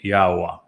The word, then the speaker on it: Yahowah: And the verb haya explains how to pronounce the he and the yod.